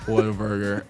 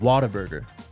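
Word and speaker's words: Whataburger: it the right way he said it what a burger I the honey butter chicken biscuits I'd lose my mind why don't you tell Tyler how you say it Water Burger I mean you're from I mean it's it's different but hey I gets the job it gets your point across he's too nice oh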